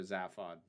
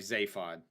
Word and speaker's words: Zaphod: have made it better zaphod i'm sorry zayfod i need to remember that's how it's actually pronounced um he might have